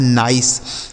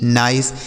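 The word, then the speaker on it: nice: एन आई सी ई, तो एन से हो गया नौ, आई का उच्चारण आई और सी ई से सौ, यह लिखा है नाइस, एन आई सी ई नाइस।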